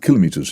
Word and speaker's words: kilometre: If you're going to have these things, can you at least pronounce them properly? No, it's kilometres. A kilometre would be kilometre would be a thing for measuring kilos. No, but it's because of my speedometer is a thing for measuring speed. So in Italian it's chilometro. That's why I pronounce it like.